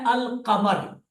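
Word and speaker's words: القمر: दो तरीके क्या है एक लफ है अल कमर अल कमर लाम साउंड में आया है अल कमर ठीक है और दूसरा है अमस लाम साइलेंट हो गया अमस सीन पर तद आ गई है अमस अल कमर अमस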